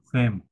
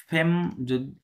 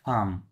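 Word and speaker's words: femme: আ লে ওপেই সদে জন ফেম। ওটা আছে ওটা ফেম হবে না। ওটা হবে ফাম। কি হবে? আকার ম ফাম উচ্চারণ হবে।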